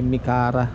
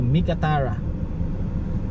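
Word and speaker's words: Meekatharra: So itong lugar na to ay Mikara. Mikara Town. Correction pala. Hindi pala to ano. Mali yung bigkas ko kanina. Ano pala to? Mikatara town of Mikatara.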